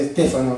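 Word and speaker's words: στέφανος: Lo interesante, hermano, es que cuando habla corona de justicia, la palabra que emplea ahí es Estéfanos, ¿no? PH, se pronuncia Estéfanos en el griego, ¿no?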